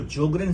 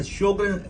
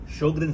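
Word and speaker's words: Sjögren: अब आते हैं शोग्रेन सिंड्रोम पे, जिसको जोग्रेन सिंड्रोम भी कुछ लोग कहते हैं. इट्स अ शोग्रेन syndrome, S silent है, शोग्रेन सिंड्रोम.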